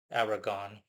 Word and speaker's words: Arragon: Um, I'm simply going to be pronouncing it like default English, Aragon, spelled Arragon.